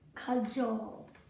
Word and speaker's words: cajole: Cajole. What is... Cajole. Read me the second syllable. Joel. Okay, read it to me clearly. Cajole.